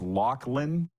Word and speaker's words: Laughlin: Am I saying it's Laughlin? You got it. Okay. Because it's spelled Laughlin.